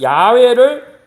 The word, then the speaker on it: 야훼: 좀 더 나은 히브리바람은 야훼가 더 원어에 가까운 발음입니다 그래서 이제 야외라고 합니다 여호와 뭐 이렇게 표현했지만 같은 말입니다 만군의 하나님 야훼를 위해 열심히 유발합니다 그래서 매우 질렀어시기 질투가 그